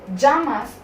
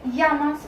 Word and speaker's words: llamas: It is pronounced either as j or y depending on your intonation. कुछ लोग इसको जामास pronounce करते हैं और कुछ लोग इसे यामास प्रोनाउंस करते हैं.